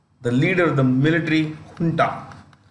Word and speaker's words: junta: He is the leader of the military junta. It is pronounced with an H.